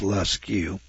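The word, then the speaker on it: Lascaux: today in alt tomara Spain uh lq France that's spelled l a s c a u x I guess that's lusu France and then riba let see if I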